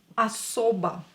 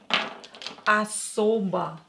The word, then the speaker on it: особо: Особо. Особо. Not stressed, not stressed, so we will pronounce them as A. Особо.